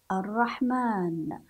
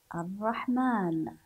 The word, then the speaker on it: الرحمن: لكن الف بعد اللام الرحمن الرحمن الف بعد الميم لكن عند الكتابه بماذا